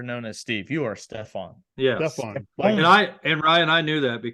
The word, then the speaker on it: Stephan: it Stephen or Steve actually the actual spelling and pronunciation my name is German it's Steph Stefan s-t-e-p-h-a-n is actually because my